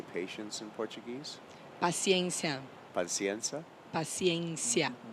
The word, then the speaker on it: Paciência: Paciência. Paciência. Paciência. Paciencia.